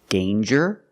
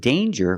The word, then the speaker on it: danger: pronounced different ways example danger and anger so with danger we hear the J sound Danger J there's no